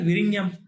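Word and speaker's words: Vizhinjam: So this is pronounced as Virinam.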